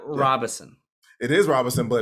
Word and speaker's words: Robison: I say Robison. That's what I thought. No, Robison.